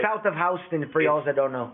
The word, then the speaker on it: Houston: South of Houston, for y'all that don't know. It's Houston, but they call it Houston. Yeah, it's Houston to Texans. In New York, they pronounce it Houston.